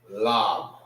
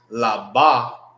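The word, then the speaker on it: לב: It's lab. Lab. Not laba. It's only lab.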